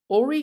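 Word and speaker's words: Horry: records as someone said it's pronounced what Ori so not hory County Ori Orie County okay now I know now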